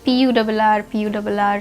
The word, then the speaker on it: Purr: It's spelled as P-U-R-R, so purr, purr. I think that's the pronunciation it should be.